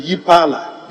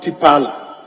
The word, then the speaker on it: Yepala: Roman numeral III should be Yipala, not Tipala. Yipala is spelled YEPALA.